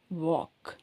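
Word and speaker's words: walk: அப்புறம் w எல் கே ஆனா அந்த எல் இருந்தா கூட நீங்க உச்சரிக்கும் போது எல்லை வந்து உச்சரிக்க கூடாது ஐ வாக் வா சொன்னாக்க வாக் சொல்லக்கூடாது வாக் வாக் சோ L pronounce பண்ணா வால்க்ன்னு சொல்லக்கூடாது சரிங்களா ஐ வாக் ஐ வாக்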